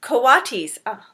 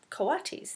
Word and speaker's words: coatis: Brisbane said reading from the letter pronounced coatis coatis there you go the coatis looked weird miss